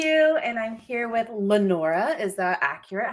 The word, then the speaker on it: Lenora: Lenora, you got it. It's not Lenora. No, it is not. Lenora. I put my emphasis in the wrong syllable.